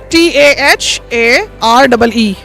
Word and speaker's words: Taharee: Insta पे भी तराही के नाम से है। स्पेलिंग बता दें क्योंकि लोग सराही ना समझे। आपने स्वाद नहीं लिखना, तोए लिखना है। TAHAREE।